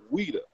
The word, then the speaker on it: Ouidah: to a place called weda correct you did not pronounce it Judah did you any let's